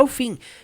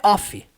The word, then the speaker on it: of: De acordo com a transcrição fonética, eu pronuncio ela of. Of é um som do V, não é off.